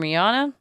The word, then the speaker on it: Rihanna: And she pronounces it Rihanna. Rihanna? And in this interview, they asked her, is it Rihanna? And she said, no, it's actually Rihanna.